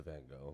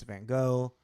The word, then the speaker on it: Van Gogh: the history of Vince Van Go, and I know we're not pronouncing it correctly, technically, Vince go. It's Van Go or whatever.